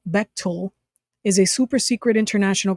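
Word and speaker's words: Bechtel: Beil Corporation Etc uh Beil pronounced betil is a super secret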